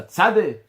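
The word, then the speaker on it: צדיק: Certains prononcent ça tzadé. Sans écrire le kouf à la fin.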